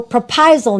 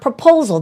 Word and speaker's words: Prapaisilp: So Prapaisilp, not proposal.